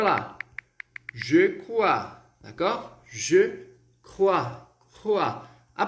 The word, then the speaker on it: crois: O S a gente não vai pronunciar, então... Alors, ici nous allons avoir un S muet, um S mudo, tá?